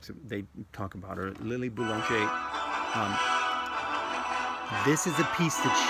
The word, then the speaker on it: Boulanger: This lady, Lily Boulanger, in the book writes, they talk about her. Lily Boulanger.